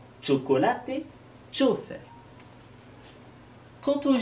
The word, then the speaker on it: chocolate: Lorsque vous rencontrerez un CH, c'est comme si vous mettiez un T avant. Chocolate, chofer.